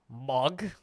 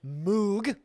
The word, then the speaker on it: Moog: waiting audio Okay so the Germans pronounce it mug with like a lot of phlegm Americans pronounce it Moog uh there there are people from Europe pronounce it with an H like a MOG and uh every person in video I've heard has pronounced it MOG so if you tell